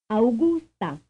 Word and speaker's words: Augusta: Augusta. Augusta. The answer is capital A-U-G-U-S-T-A. Frame 42. How many syllables do you hear in this name? Augusta. Augusta. The answer is 3.